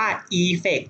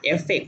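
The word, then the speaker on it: effect: เปิด ออน ปิด tfex คำ นี้ อ่าน ว่า อี อร์เฟคท์ จะ อ่าน เอฟเฟค เด้อ อ่าน ว่า อี อร์เฟค นะ คะ พิเศษ นะ ฮะ แล้ว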